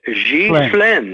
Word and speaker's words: Ghislaine: Yeah, with a G mixed with a Z. Ghislaine. Ghislaine. You got it, almost. But all right. Let's say S-L-E-N by itself. Ghislaine, S-L-E-N. Well, it's spelled S-L-A-I-N, I think. Yes, but I'm saying it phonetically in English. Okay, it's gotcha. Pronounced. The last part is S-L-E-N, Schlaine. So it's Ghislaine.